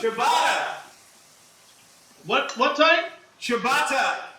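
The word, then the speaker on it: ciabatta: by what what type Shibata that's how it's pronounced front door your favorite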